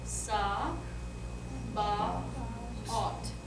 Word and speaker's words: Sabaoth: All right, and then TH is always, always, always just a normal T. Okay. So how would that be? Sa, ba, ot. Sabaot. Sabaot.